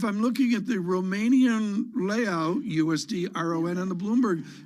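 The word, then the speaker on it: leu: Is it pronounced the L-E-U? You know, Miriam, just corrected me on that. It's the Leau, I think.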